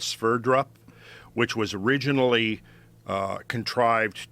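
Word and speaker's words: Sverdrup: been looking at this use a term called sphere drop which was originally uh contrived to um in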